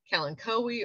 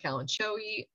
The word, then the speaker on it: kalanchoe: Jerusalem cherry, kalanchoe or kalanchoe, depending on how you pronounce it, comes in whites, pinks, yellows, reds, and stromanthe, which is, ooh, that's my alarm right there.